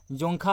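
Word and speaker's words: Dzongkha: उसकी official language आपका जोंखा है, ठीक है, यहाँ पर डी साइलेंट है, जोंखा है।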